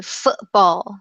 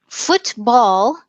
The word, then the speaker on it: football: it does sound strange football also sounds a little strange because we don't totally pronounce the T what we do in